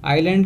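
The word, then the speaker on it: island: Next word आइलैंड, आइलैंड का मतलब होता है टापू। ध्यान रखना यहाँ पे एस साइलेंट है, तो एस को हम प्रोनाउंस नहीं करेंगे, हम क्या बोलेंगे, आइलैंड बोलेंगे।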